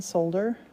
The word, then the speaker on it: solder: They pronounce the L in solder.